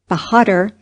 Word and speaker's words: Bahadur: father of Genghis Khan is a word which cannot be pronounced exactly in English it sounded something like this with the accent on the last syllable bahadur and the a sounded like a in hark this was as near